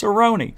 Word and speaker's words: Cerrone: And all year, I see Jimmy Cerrone. Even if I'm saying it wrong, I think I'm saying it right because there's an MMA fighter with the same last name, and it's Cerrone.